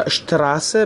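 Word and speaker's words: Straße: اگر یک کلمه با st یا sp شروع بشه، s به صورت ش تلفظ میشه. از جمله در دو کلمه شتراسه یا اشتراسه به معنی خیابان.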